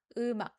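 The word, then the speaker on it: 음악: Eumak eumak. You don't hear anything after ak ak. It's not ng, it's not k, it's just ak ak. Sound stopping, okay?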